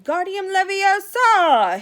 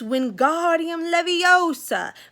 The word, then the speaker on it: Wingardium Leviosa: much more luck when Guardium Leviosa he shouted waving his long arms like a windmill you're saying it wrong Harry heard Hermione snap its Wingardium Leviosa make the gun nice and long you do it then